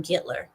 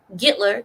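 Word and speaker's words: Гитлер: the reason why gitler I'm G to say his name the Russian way Russians call him gitler gitler this is the reason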